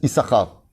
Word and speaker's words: Issachar: Et on le prononce Issachar. Il y a 2 chines. Pourquoi il y a 2 chines? Pour qu'on coupe le mot en 2.